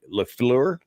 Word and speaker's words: La Fleur: I mispronounced it right, La Fleur, I Correct.